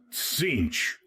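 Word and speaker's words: Tzeentch: It is pronounced as Cinch. Maintain vigilance for Cinch is the chaos god of change, manipulation, and deceit.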